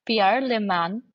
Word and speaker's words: Pierre Le Manh: Pierre Leman, the president and CEO of Project Management Institute PR first. I hope I'm pronouncing your name correctly.